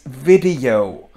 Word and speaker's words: video: It's video. Video. It's not pronounced like in Danish, you. It's a little longer video, but I want to